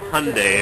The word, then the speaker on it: Hyundai: tired of driving that hyundai it rhymes with sunday around transition so i was thinking of selling the hyundai oop unzoom i'm thinking